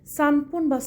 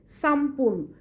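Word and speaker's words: さんぷん: ইপুন নিফুন দুই মিনিট সানপুন বা সামপুন তিন মিনিট লেখা থাকবে সানপুনবা বাট তুমি বলার সময় বলবে সামপুন। তুমি বলার সময় বলবে সামপুন।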